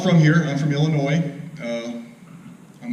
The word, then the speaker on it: Illinois: I'm from Illinois. I'm not necessarily proud of that. The ass is silent. Anybody that says Illinois, you know they're not from Illinois.